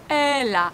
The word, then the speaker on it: elle a: And the same in elle a. Only here we have a sound. Your mouth should be widely open.